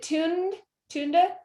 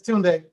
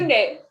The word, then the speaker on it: Tunde: Is it Tunda? Hi. I have a commonly mispronounced name, so I'm always like, oh. It's Tunde. Thank you. Tunde.